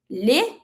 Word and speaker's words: les: My word L E S is pronounced le.